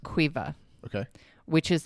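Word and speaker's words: Caoimhe: well, the name is pronounced Quiva, Okay.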